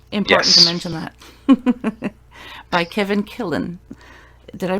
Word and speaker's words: Kevin Killen: By Kevin Killen. Did I pronounce that right?